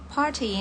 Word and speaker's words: party: Mungkin sering dengar sering diundang juga ya, karena party ini pesta artinya. Untuk pelafalan British dan American itu bedanya dikit aja. Kalau yang British itu T-nya kita masih ucapkan T, party, party. Kalau American, party, party.